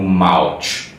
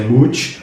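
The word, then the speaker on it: Mouch: E também Wesley Mooch, que antes eu lia como Mouth, tipo como se fosse mouth, sabe, de boca, mas na verdade a pronúncia é Mooch porque é uma piada.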